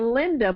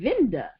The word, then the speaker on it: Vinda: It kept sounding like she was saying Linda, but the lady name was begin with a V, Vinda, and she sounded like